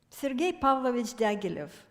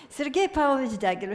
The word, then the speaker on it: Sergei Pavlovich Diaghilev: So, Sergei Pavlovich Diaghilev. One thing is in my favor is that I'm Russian, so I can pronounce it correctly. Sergei Pavlovich Diaghilev, here are his dates,